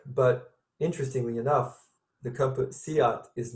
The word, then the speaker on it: SEAT: It's pronounced Seat, spelled seat.